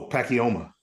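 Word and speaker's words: Pacoima: now what how do you say the oh pacoma there we go pacoma California y'all my apologies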